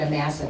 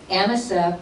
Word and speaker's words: Amasa: I always had pronounced it Amasa, but she said Amasa, and I'm sure she knows.